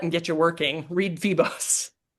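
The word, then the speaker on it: Febos: kick your butt and get you working, read Feebos. How do you spell that?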